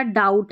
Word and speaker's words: doubt: और ये हमारा डाउट है, DOUBT, क्योंकि B इसमें साइलेंट है, डाउट में, डाउट करना, संदेह करना, B का उच्चारण नहीं होता।